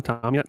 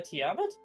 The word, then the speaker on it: Tiamat: much, but can you tell me about Mama Tom yet later?" He doesn't know how to pronounce it right.